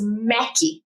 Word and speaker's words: Mequi: And the name that was most popular was Mackie, which was how they would pronounce just Mac in Brazil.